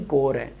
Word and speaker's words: corps: P और S silent हैं, तो इसको हम बोलेंगे कोर ही।